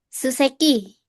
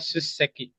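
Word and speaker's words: 出席: Suseki. Ini sebenarnya Suseki. Ya, agak ditekanin ini ya.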